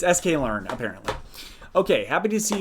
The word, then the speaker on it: sklearn: Min-max normalization with sklern. I don't even know how to pronounce that.